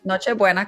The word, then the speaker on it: Noche Buena: Then you gotta tell everybody why they need to catch Nutribona. I always try to say it right. Noche buena, close.